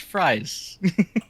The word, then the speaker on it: Fries: It's it's German. It's pronounced fries.